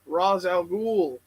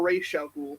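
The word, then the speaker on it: Ra's al Ghul: Batman one bad day Raz al Ghul or ratio ghoul depending on how you pronounce it no way yeah yeah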